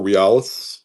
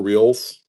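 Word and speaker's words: reales: So, we also have the uh the 1801 Bolivia for realis or for reals. There's a couple different ways people pronounce that.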